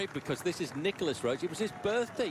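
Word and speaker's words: Nicolas: not very far away the french always call him nikola but nowadays he's adopted much more of an anglophone pronunciation of his voice is actually nicholas wrote these days and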